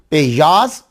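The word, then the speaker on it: पियाज़: दोनों का असल प्रोनाउंसिएशन जो है वो पेयाज और लहसन है, लेकिन गलत नहीं है, आपने जो अडॉप्ट कर लिया और अगला समझता वो ठीक है बिल्कुल।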